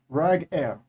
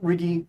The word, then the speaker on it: Rag Air: Followed by that, Rag Air. Rag Air is how it's pronounced. Not Riggy, not Raggy. Rag Air.